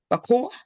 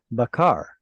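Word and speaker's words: בקר: Besot Yavo Aran El Akodesh Be Befar Ben Bakr oh no Bakor Bakar. It's stressed. Bakar.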